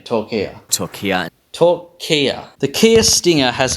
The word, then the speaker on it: Türkiye: to call it, That have devastated parts of Türkiye. Turkey. You'll notice I'm saying Türkiye. I did notice you were saying Turkey. Türkiye.